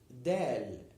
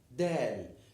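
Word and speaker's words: دال: look at this shape this ship is called del this letter is called del del this is the name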